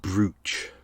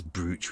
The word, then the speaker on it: brooch: I always find the word brooch weird because it's spelt brooch. But no one ever says brooch, we say brooch. So why isn't it B-R-O-C-H as opposed to B-R-O-O-C-H?